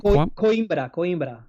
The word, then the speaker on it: Coimbra: Coimbra? Am I pronouncing that right? Coimbra.